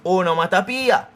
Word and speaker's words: onomatopoeia: The correct pronunciation is onomatopoeia.